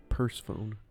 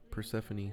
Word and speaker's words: Persephone: it's pronounced I think the only other way to pronounce that would be purse phone and that doesn't sound right Persephone Soames what Persephone you